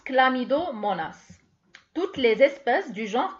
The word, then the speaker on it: Chlamydomonas: Ça s'écrit avec un H, mais ça se prononce Chlamydomonas.